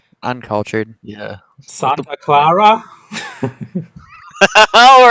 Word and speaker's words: Santa Clara: Wow, you're not even going to pronounce it right. Uncultured. Yeah. Santa Clara.